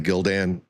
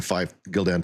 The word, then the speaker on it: Gildan: I'm probably pronouncing the Gildan. It's like a Gildan 5000. It may be pronounced Jill with a soft G.